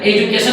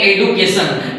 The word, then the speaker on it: education: एजुकेशन को पढ़ते हैं एडुकेशन, एडुकेशन। What is द प्रोनाउंसिएशन ऑफ एजुकेशन? एजू, DU के बाद ये चू नहीं, इसको डू नहीं बल्कि चू पढ़ना चाहिए, क्योंकि यही रियल साउंड है।